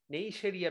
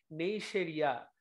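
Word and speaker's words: Neisseria: বেশি মেনিনজেসে আক্রমণ করে, নেইশেরিয়া ব্যাকটেরিয়া। নামটা ভুল করার দরকার নাই, উচ্চারণটা শুনে নাও, নেইশেরিয়া, নেইশেরিয়া। আমরা এটা এভাবেও বলতে পারি, সেই যে রিয়া মেয়েটা ছিল, ওই রিয়া মেয়েটা কিন্তু এখন আর নেই।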